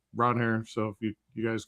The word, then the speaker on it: Ranger: So, uh Ronair Suarez was like, "If you call me Ranger, it's fine, but it's Ronhair."